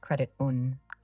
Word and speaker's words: Crediton: Yeah, Crediton. God damn it. Oh, sorry. Push the wrong button again. No worries, pronunciations can be tricky. It's pronounced Credit-un.